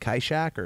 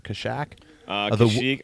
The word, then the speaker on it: Kashyyyk: Now, is it true that George Lucas was originally going to have this on, how do you say it, Kyshak? Kashyyyk. I believe Kashyyyk?